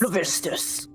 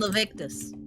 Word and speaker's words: Levistus: Levistus. I keep saying Levictus. Me too. Okay. The book of Yes, so- Levistus. Leviticus, but without the syllable.